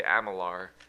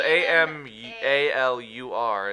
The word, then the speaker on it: Amalur: Amalur, but every time I hear anyone say it, they say Amalar. And I'm like, that's not. But it's like Amul. It's spelled Amalur. It's like, that's not Amalar.